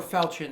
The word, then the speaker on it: falchion: He also has a shield and a falchion actually at his waist. Or falchion, as most of us pronounce it.